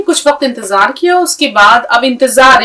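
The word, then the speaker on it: انتظار: जबर ता जो अलिफ जबर जा रे साकिन इंतजार इसको आपको बारबार करके देखना है क्योंकि अगर नहीं करेंगे तो फिर भूल जाएंगे इस तरह लीजिए मेरे हाथ पर नजर रखिए इंतजार यह इंतजार भी एक इम्तिहान होता है और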